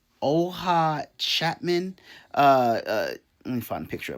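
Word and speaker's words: Oona Chaplin: Her name is pronounced Oha Chapman.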